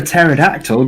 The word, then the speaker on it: pterodactyl: can't you hear a pterodactyl go to the bathroom why because the p is silent oh I hate it